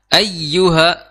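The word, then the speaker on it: أيها: Di situ ada tasydid di atas huruf ya, maka dibacanya juga harus ada sedikit naber kalau bahasa sekarangnya. Kalau zaman dulu nggak ada naber, ya, ibaratnya sedikit ditekan, ya, sedikit ditekan ketika membaca ya atau waw yang bertasydid, ya, maka ya ayyuha,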